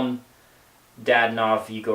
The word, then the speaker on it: Dadonov: Just a side note, it's pronounced, or said, however you want to call it, he's Evgeny Dadonov, not Dadonov. I hate that.